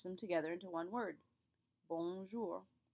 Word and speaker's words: bonjour: into one word bour there are two tricks to pronouncing this word the first is that o n in the bong it's a nasal sound which means the air is going to come from your nose rather than your mouth in order to